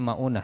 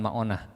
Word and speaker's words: Ma'unah: arraji dan tragedi sumur maunah dibacanya maunah ya bukan maonah maunah Punten yang namanya sama apalagi maoneh maunah mim Ain ww Nun tak marbutoh maunah dan arraji tragedi arraji